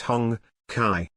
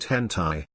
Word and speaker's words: Honkai: It's pronounced Honkai, not hentai.